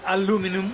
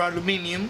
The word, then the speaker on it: aluminium: for example could cut aluminum or aluminium depending on how you pronounce it but if I was